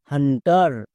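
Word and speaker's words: hunter: হান্ট plus আর হান্টার। এখানে কিন্তু ইউ এর জন্য হস্তুকার হয়নি। অনেকে ভুল করে ইউ এর জন্য হস্তুকার ইউজ করছো। বাট এই ভুলটি করলে হবে না।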